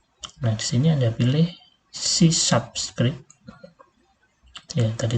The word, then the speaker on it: C#: Jadi kalau Unity itu menggunakan script yang namanya C# ya, tulisannya C crash tapi bacanya C#.